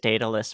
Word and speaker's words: Daedalus: It's pronounced Daedalus, by the way. It can be pronounced both ways, actually. The AE is what makes it actually possible to say it both ways.